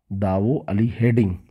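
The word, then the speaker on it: दाओजली हेडिंग: तो दाओ अली, इसको जो इसका सही स्पेलिंग है, ये दावो होता है, दाऊद नहीं, दावो अली हेडिंग पुरास्थल था।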